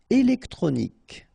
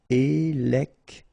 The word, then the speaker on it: électronique: Électronique. Okay, so as we saw previously, Q-U-E at the end, K. Okay, électronique.